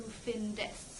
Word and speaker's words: findest: then you'd have du findest, so you need the E there again, because du findest, it, again, doesn't sound good, it's hard to pronounce.